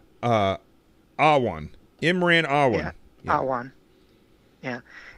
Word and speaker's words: Awan: Why do I always get his name wrong? Awan.